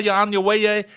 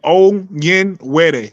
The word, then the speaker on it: Onyenwere: Michaela Onyewaye.